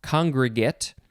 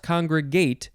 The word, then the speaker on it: congregate: Second form, this one is pronounced congregate, not congregate, congregate, spelled the same way.